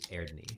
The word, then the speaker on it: Eadni: The name of the headmaster is Erdni. So EADNI, but it's a Sami word. So EAR. So or it's so you say it like Ear. air AIR Ear. slash ni.